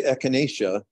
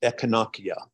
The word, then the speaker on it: Echinacea: pronounced e i and Latin properly pronounced has no soft sounds so that we say echinacea that's slang it should really be pronounced echonokia there's no soft sounds